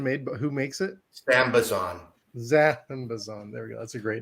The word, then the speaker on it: Sambazon: Sambazon.